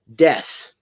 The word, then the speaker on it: desu: you say desu um like if you were saying the word desk but without the k so desu uh and death is spelled d-e-s-u um but the you is silent because they do that a lot so if